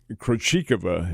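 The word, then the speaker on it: Krejčíková: The Krejcikova is how she pronounces her name.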